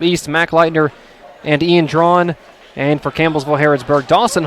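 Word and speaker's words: Draughon: Ian's name is not It's D R A U G H O It's pronounced drawn H O N. Okay. And it's pronounced drawn like d r a w a.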